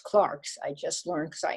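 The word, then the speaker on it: clercs: clerks but it's pronounced clarks i just learned cause i asked her that's the french pronunciation a channel nostalgia for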